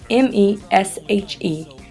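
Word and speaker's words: Meshe: In the midst of this migration, my family decided to change the spelling of our last name from M-E-S-H-E to M-E-C-H-E, as well as the pronunciation from Mesh to Michi.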